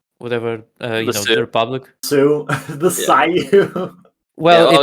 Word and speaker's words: Sioux: you guys learned, and probably the foreigner just Sayu. learned. So There's isn't there like still the Sayu, whatever The the Sioux. Republic? Sue, the Sayu. Well, oh, it's yeah. SIOUX.